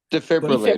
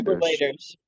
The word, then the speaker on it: defibrillator: Defibrillator. Defibrillators. Defibrillator. Yeah. Okay. Thank you very much. Defi you later. Five syllables.